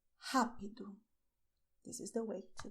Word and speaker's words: rápido: So pay attention: the sound is with your throat, the same way as you pronounce "hot" in English.